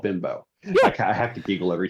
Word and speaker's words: Bimbo: Every every time I go grocery shopping down here in Texas and in Mexico, there's a bakery company called Bimbo.